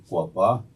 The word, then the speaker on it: Cocopah: the cocaa and in in our language we're pronounced quapa MH and we are